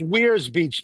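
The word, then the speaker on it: Weirs Beach: We It It's We's Beach. Even though it's spelled weird. It's almost like Where is the beach? Where's Beach?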